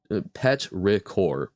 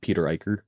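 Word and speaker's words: petrichor: Petra no okay the at least according to online Oxford says pet pet RoR pet RoR um it is a three syllable rather than two syllable one not Peter Iker um but yeah I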